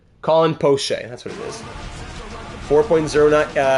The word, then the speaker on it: Poche: How do you pronounce that name again? Can you scroll up here? Poche. Colin Poche, that's what it is.